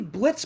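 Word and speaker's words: Blitzø: Yes, it's technically Blitz Buxo because the O is silent.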